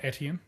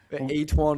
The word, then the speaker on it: Etienne: I was about to say, it wasn't Etienne. Nah, it was way worse. It was, yeah. Etwan or something like that.